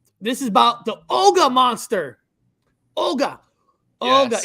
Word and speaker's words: Ogua: Ogua. Yes. Is it pronounced Olga or Uga? Olga, is that correct? Yeah, I think I've heard both.